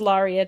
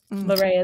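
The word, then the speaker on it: Larrea: The botist will say it's Lauria Tridenta, but Laora is the way that my parents pronounced it.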